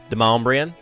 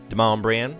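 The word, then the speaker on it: Demonbreun: You know how they say it. Deombrian. Deombrian.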